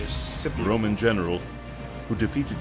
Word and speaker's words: Scipio: That's how you say it, Scipio.